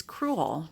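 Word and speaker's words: crewel: got this pillowcase and it's cruel that c-r-e-w-e-l I always like to make sure I spell it because it sounds of course like the other word accrual but it's an actual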